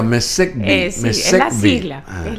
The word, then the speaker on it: MESECVI: así se pronuncia, MESECVI.